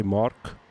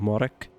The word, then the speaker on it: Marek: I've had problems people pronouncing my name because they always say Mark instead of Marek. They don't pronounce E, so that happens sometimes.